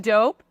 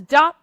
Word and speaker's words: dope: and it's just like thank you for saying dope everybody says dot Pizza like it's not the thing it's a long o people yeah thank you